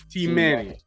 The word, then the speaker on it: Teemanay: listeners can say it right just see manny t manny t manny yes t manny yes because i'm